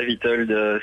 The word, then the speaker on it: Witold: Oui, c'est ça, Witold. C'est le W se prononce V en polonais, en fait.